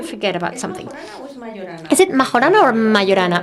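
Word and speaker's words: Majorana: didn't want to forget about something is it Mahana or Mayana Mayana in Italian it's pronounced Mayana there are are so many books that talk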